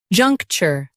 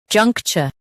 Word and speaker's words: juncture: juncture Now, read the syllables of British pronunciation shown on the screen naturally. junk cha juncture junk cha juncture In US, ture is soft. In UK, it's cha.